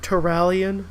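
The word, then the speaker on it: Turalyon: Is it Tyrillian. Tyrillian. Yeah. I believe it's pronounced Tyrallion in game.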